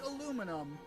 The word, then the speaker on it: aluminum: And they will stand by the idea that because the man who I believe developed aluminum was British, or he was some European of some variety, and people will use that as the stopping point to say, "Ha!